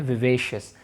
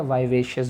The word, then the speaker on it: vivacious: विवेशियस, हम इसे pronounce करते हैं विवेशियस, या आप इसे विवेशियस बोल दें या वाइवेशियस बोल दें, दोनों ही तरीके से सही होगा।